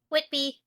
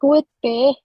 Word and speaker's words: Whitby: Whitby. I sound like I'm saying Whitby. Whoopi. I think you need to enunciate the T.